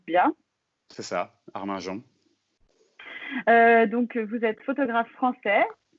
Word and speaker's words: Arminjon: Armajon, est-ce que je prononce bien? C'est ça, Arminjon.